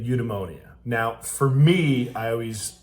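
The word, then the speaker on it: eudaimonia: ultimate goals happiness or emonia which I'm pronouncing incorrectly ly but udonia now for me I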